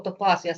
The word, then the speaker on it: Topaasia: Well, top is top in English with one a is the thing. Yeah. So topasia sounds nice. Sounds nice. So that's there's the there's the correct pronunciation as well.